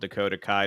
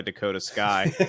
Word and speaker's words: Dakota Kai: great because Bailey accidentally screwed up and called Dakota Kai Dakota Sky, and the crowd gave her some shit for